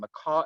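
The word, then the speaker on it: Makah: And Macaw is spelled M-A-K-A-H.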